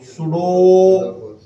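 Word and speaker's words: pseudo: इट इज ए सुडो, इट इज ए सुडो force. सुडो में P silent ना, तो जब उसको पी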